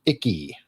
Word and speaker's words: IC: Intelligence community, IC is pronounced icky.